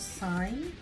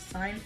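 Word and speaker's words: Sine: So I'm gonna start with the darkest blue right here, which is called Sign. I hope I'm saying it wrong. I'm saying it right. Sign, S-I-N-E.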